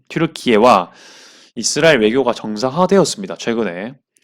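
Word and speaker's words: Türkiye: 특히 아제르바이잔 외교 그 정책에 거의 뭐 엄청난 비중을 차지하고 있는 터키가 여기 터키라고 찍었지만 튀르키예라고 발음을 하겠습니다. 튀르키예와 이스라엘 외교가 정상화되었습니다.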